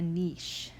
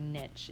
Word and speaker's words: niche: what we can call a niche or a niche if you want to pronounce it that way i like niche a niche is basically